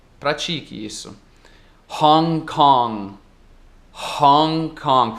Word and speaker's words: Hong Kong: Hong Kong, pronunciando o H aí.